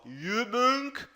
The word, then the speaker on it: Übung: Pratique a pronúncia do O e do U, por exemplo, você vai conseguir falar a do O. Übung, mögen, tá?